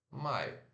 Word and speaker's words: my: deixa eu mostrar aqui Maia Então se escreve m y porém se pronuncia m a e fechar então a e mais